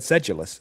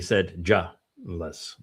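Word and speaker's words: sedulous: Yeah, I I would have without the phonetic I would have said sedulus. Sedul sedulus is that way I pronounced it and they wanted it to be said julless.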